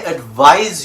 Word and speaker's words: advise: version is correct i advise you to pay attention to this video this is spelt with an s that has a z sound english i tell you